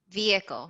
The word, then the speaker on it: vehicle: my three syllables actually it is spelled with an h but i don't pronounce it with an h but there is a